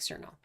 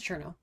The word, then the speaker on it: Cherno: Well, it looks like Cerno, but it's Cherno.